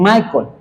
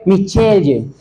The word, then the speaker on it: Michelle: Por ejemplo, el nombre de mi esposa, ella es Michelle, pero en otros lugares a las personas le dicen Michael, ¿ok? Michelle.